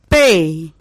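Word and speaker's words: پے: The third is Pay, P, A, Y, Pay. The fourth letter is Te, Te. Here you pronunciate the word Te, the letter Te, by the soft sound of T.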